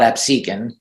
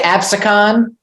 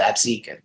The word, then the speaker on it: Absecon: a little town called Absecon yeah that's how you say it Pepsi yeah some people say absicon but you know the locals call it Absecon listen there was a